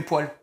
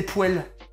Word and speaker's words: poêle: meuf qui disait les poêles. Ça m'a rendu fou. Non mais ça s'écrit poêle, mais c'est dégueulasse de dire poêle.